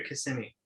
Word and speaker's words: Kissimmee: Kissimmee or Kissimmee?